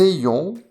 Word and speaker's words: ayons: Attention à la prononciation, que nous ayons, que vous ayez, qu'ils aient.